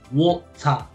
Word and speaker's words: water: So every time you see WA, nunca se pronuncia wa. No es wa, es wo. Wo. Por ejemplo, water.